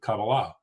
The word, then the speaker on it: Kabbalah: of uh kabbalah or as i learned it's pronounced actually kabbalah and uh when we were researching uh today's